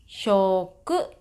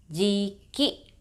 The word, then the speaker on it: 食: For onyomi, this is pronounced as shoku and jiki. For kunyomi, you can pronounce as ta or ku.